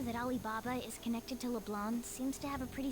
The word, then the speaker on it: Leblanc: scene according to Julian mikuyi rickwell it is pronounced LeBlanc it was me I was in the wrong